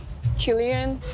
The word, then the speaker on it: Qrion: I'm here with Qrion. Did I say that correctly? Yes. There's been different kind of speculation about how to say your artist name. How do you say it correctly? Qrion.